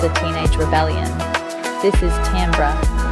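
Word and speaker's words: timbre: This is tambber, pronounced tambber, which I always forget calling it timber like a falling tree.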